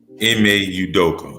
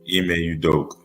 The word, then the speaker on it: Ime Udoka: I'm back at you with this topic on the Malika Andrews going in Adime Adoka. Uh I know it's been going Ime Udoka. I'm sorry. I mispronounced his name. Ime Udoka.